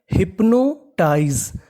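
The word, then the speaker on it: hypnotise: एस ई इसे पढ़ते हैं टाइज क्या पढ़ते हैं टाइज अगर आप चाहे तो इसे टीज भी पढ़ सकते हैं और टाइज भी पढ़ सकते हैं तो मीनिंग बनी हिप्नोटाइज हिप्नोटाइज हिप्नोटाइज का मतलब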